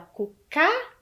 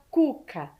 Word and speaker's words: Cuca: mais forte Ok e Cuca a gente fala cucá ou a gente fala Cuca Qual é a sílaba mais forte é a primeira né então o assento no k está errado correto todo mundo acertou